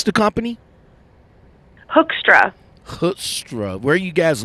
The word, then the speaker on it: Hoekstra: So, how you pronounce the company? Hoekstra.